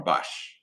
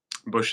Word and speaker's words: Busch: here with Professor Christian uh, Busch, right? Is that how you say it? Or Bosch? Busch is perfect.